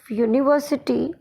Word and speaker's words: university: The U at the beginning of university sounds like Y-O-U.